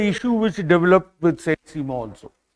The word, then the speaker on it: Simon: It is written as Simon, S-I-M-O-N, but French name, so it is pronounced as Simon, Saint Simon.